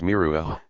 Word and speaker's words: Meru: of the world mountain, Meru, is pronounced in some dialects as Miruah, the letter H being strongly aspirated.